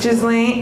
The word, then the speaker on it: Ghislaine: Ghislaine.